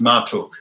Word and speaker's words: Marduk: ma r Guk since written Marduk but it's pronounced Martok and the princely Lion of Persia went to